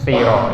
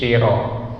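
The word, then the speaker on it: صِرَاط: Jadi kita baca di sini ihdinas siro, ya, si, ihdinas siro, ya. Jangan kita baca ihdinas syiro, tapi si, bukan sy, ya.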